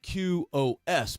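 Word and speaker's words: Qos: It's spelled Q-O-S, but it's actually just pronounced Q.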